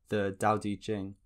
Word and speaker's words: Dao De Jing: teaching by loud to the towel teaching or more accurately pronounced the Dao de Jing is a fundamental Taoist